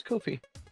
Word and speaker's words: Kofi: Say coffee? No. His name is Kofi.